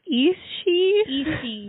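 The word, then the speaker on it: Aos Sí: So, it's spelled Aos Si, so 2 words. And I think it's pronounced Ishi.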